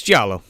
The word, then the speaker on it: giallo: diallo how the do you pronounce that word it's giallo okay jeff why did i say that like